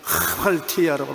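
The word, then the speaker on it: ἁμαρτία: 이 히읗자 발음이 액센트를 많이 넣어서 하말티아라고 말합니다.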